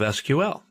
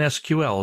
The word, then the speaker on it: SQL: Well, it's a version of SQL. We'll talk about that in a minute. People in the know don't say MySQL. They say MySQL. That's generally how it's pronounced. And SQL is usually pronounced SQL.